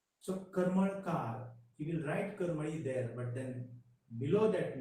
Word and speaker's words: Karmali: But the actual name of the place is not Karambolim but Karmali. Karamali. Karmali. The Karambolim is the distorted version.